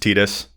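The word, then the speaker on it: Tidus: there, we know that it's supposed to be pronounced Tetus because Yuna is the moon and Tetus is the sun. Like we understand we will apologize. We're going to end up defaulting to Titus a lot and I think a lot of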